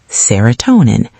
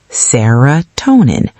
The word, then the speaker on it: serotonin: Serotonin. Serotonin. 5 syllables. Stress on toe.